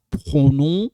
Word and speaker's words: pronom: Na français toujours ba pronom sujet. Pronom sujet. So this is the one. Le pronom. Pronom. When I say pronom, we don't pronounce this.